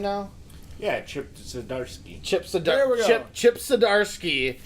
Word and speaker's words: Zdarsky: Yeah, Chip Zdarsky.